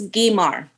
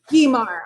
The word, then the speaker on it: Guimar: And, how do you say your last name right? It's Guimar. Guimar.